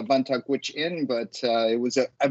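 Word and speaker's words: Vuntut Gwitchin: regards to um uh my first nation is the uh vantage witch inn but uh it was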